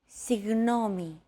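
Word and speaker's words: συγγνώμη: between the small separation another approach is to try to pronounce a g as if an H sound were to follow after it and hold that sound while you exhale the after sound created by that H is what you're looking for listen as Chrissy demonstrates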